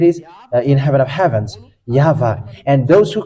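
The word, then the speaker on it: יהוה: And it's the book of Torah, which says that we call it YAHVAH, and that's how we read it in heaven of heavens. YAHVAH.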